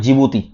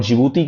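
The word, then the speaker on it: Djibouti: Okay यह है आपको यमेन और यहां पर एक कंट्री है इसका नाम है जिबूती। आपको नहीं दिख रहा होगा तो मैं स्पेलिंग ले लेता हूं इसका।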